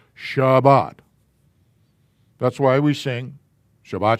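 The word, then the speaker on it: שבת: it gets it whatever it gets changed to sabbath but if the technical term is or the proper way to say it is shabbat that's why we sing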